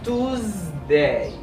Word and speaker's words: Tuesday: As you can notice, the S has a Z sound. Yes, this S has a Z sound. S again, son Z. It is pronounced as Tuesday. Tuesday.